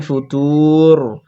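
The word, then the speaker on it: فُطُورٍ: লাগিয়ে ধরে রাখতে হবে ফুতুর তাহলে ফারজিল ফার রবার হেভি অক্ষর ওই জন্য ফুর করলাম ফারজিল জিন তাড়াতাড়ি পড়তে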